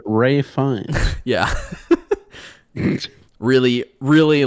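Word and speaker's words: Fiennes: movie uh oh gosh you pronounce it ray fine yeah really really like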